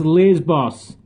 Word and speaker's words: Lesbos: Lesbos. It's pronounced Lesbos.